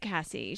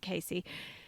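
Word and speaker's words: Casie: and and poor old cassie she casey sorry it's it's spelt c-a-s-i-e but i think she pronounces it casey she got addicted to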